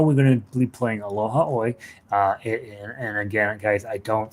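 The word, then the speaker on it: Aloha ʻOe: I have been told it's Aloha A, but it always looks like like aloha oi to me, and Hawaiian is a very phonetic language, so I think that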